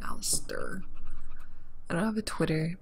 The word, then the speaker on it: Alistair: His name is Alistair. Alistair. It's like a stare, not Alistair.